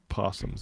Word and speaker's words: opossum: But the O is silent?